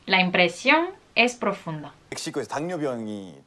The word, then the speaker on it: 당뇨병: Pero se pronuncia 당뇨병.